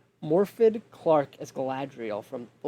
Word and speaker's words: Morfydd: my fifth pick is I apologize if I say your name wrong. Morfydd Clark as Galadriel from The Lord of the Rings: The Ring of Power.